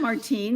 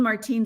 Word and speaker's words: Martine: um and then of course my first name Martine Martine speaking French and so the only time my name is pronounced when I went to Starbucks uh was